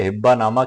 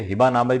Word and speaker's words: हिब्बानामा: आज के हमारे वीडियो का टाइटल है हिब्बानामा क्या होता है? इसे हबनामे भी बोलते हैं। असल उच्चारण इसका हब्बनामा ही है।